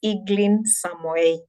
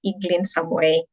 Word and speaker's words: Eglin Samoei: Just to recap on my name for anyone who never got it, it's Eglin Samoei. So you pronounce it as Eglin Samoei.